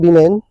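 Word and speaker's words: women: Working वीमेन rely on baby seaters. Dear friends, working वीमेन rely on baby seaters. अब यहाँ वुमेन पढ़ते हैं, लेकिन ये करेक्ट प्रोनाउंसिएशन है वीमेन, है ना, वीमेन।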